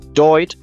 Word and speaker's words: doigt: The word for finger, doigt, came through as doit. Somebody put the G back to make the Latin digitum visible again.